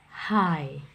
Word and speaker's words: high: seperti ini nah ini huruf g-nya tidak dibaca ya Jadi bukan dibaca Hi tetapi dibacanya high high artinya tinggi kemudian misalnya